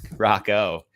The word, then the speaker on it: Rocco: But speaking of rocking, his name rhymes with rocking. Rocco.